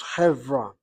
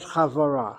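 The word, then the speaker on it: חברה: The word company, he has it as chevra, not chavara. Chevra. Evra with Sego and nitachet. okay. Evra, not chavla.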